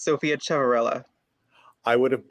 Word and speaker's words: Ciavarella: i would butcher terribly of course it's sophia chevrella i would have butchered it yes thank you so much in